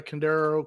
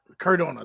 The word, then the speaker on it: Cardona: Candaro. Cadaro. Matt Cardono. Jack Cardona.